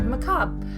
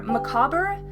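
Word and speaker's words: macabre: the English language are macabra and maab so basically the thing behind that is the word maab it is French in origin and the original pronunciation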